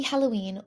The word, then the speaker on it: Halloween: And Halloween is actually spelled the same way in Italian, but H's are silent. So I ignore the H and I say Halloween.